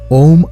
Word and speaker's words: ओम्: हालाँकि कई लोग इसे ओम का उच्चारण करते हैं, लेकिन प्रतीक का वास्तविक उच्चारण "ओम्" है।